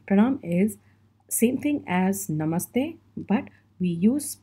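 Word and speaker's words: नमस्ते: a general salutation and you say it like no ma hey namaste so the word goes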